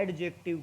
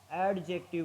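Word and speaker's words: adjective: देखो इसको कुछ लोग क्या बोलते हैं, एडजेक्टिव, क्या बोलते हैं, एडजेक्टिव। वो क्या है, गलत, गलत प्रोनाउंस है, इसको बोला जाता है एडजेक्टिव।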